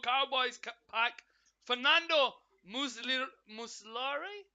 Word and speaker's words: Muslera: Cowboys pack Fernando Muslim muslory muslera I think is how you say his name for Uruguay then we